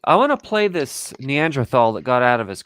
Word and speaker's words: Neanderthal: Okay, I want to play this Neanderthal that got out of his car. Actually, it's Neanderthal, not thal.